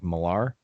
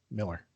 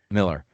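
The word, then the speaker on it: Millar: like the writer mark milar yeah miller miller it looks like milar but it's pronounced but i i just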